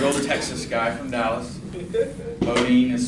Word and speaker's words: Beaudine: Beaudine is spelled B-E-A-U-D-I-N-E.